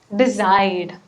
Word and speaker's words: decide: The next one is stress the last syllable. So in certain words, you can stress the last portion of that word, like require, decide. So when you speak it, make sure you do it correctly.